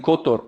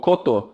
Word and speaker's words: Kotor: It turns out the ship does not dock in Dubrovnik, it docks in Kotor or Kotor, depending on pronunciation, which is in Montenegro.